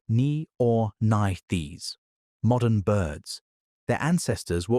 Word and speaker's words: Neornithes: A specific subgroup of small, toothless, beaked, flying theropods called the Neornithes. Pronounced nee-or-nith-ees.